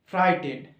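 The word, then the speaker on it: frighten: আর আই জি এইচ টি ই এন ডি ফ্রাই টেন okay এবার সেটআপটা এই সেকেন্ডে আছি এই সেকেন্ডের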